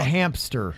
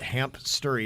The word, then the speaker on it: hamster: people will pronounce it hamp story even though there's no p in it i don't know why